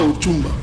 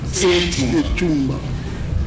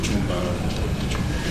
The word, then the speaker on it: Echumba: Ce n'est pas Ochumba. Echumba. Parfois on prononce Ochumba.